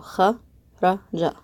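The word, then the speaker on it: خرّج: The fatha makes the a sound, so kha, ra, ja. Kharaja. Now what we did is we ended up putting the shadda on top of the ra. So we're going to pronounce this letter twice.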